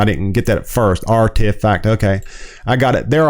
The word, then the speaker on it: RTFKT: bought in december and whose name is pronounced artifact okay i didn't get that at first artifact okay i got it